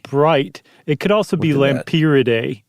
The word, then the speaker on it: Lampyridae: I think it's Lampyridae. I think that's about right. Because pyro, like fire, like the bright. It could also be Lampyridae.